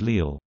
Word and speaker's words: Lille: Lille, French pronunciation, Lille, listen, Dutch, Rizel, Rizel, West Flemish, Rizel, is a city at the northern tip of France, in French Flanders.